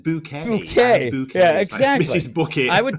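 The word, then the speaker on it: Bucket: Her name was like Bookit, which is like it's pronounced bouquet.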